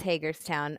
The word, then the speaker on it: Hagerstown: Is that how you pronounce it, by the way? Hagerstown? Yes, it's Hagerstown, Okay.